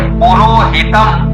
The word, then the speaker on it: पुरोहितम: बोलो, अग्निम ईटे पुरोहितम। अग्निम ईटे पुरोहितम। पुरोहितम, पूर लघु है, रो दीर्घ है, हितम, पुरोहितम, पुरोहितम, पुरोहितम, पुरोहितम, पुरोहितम।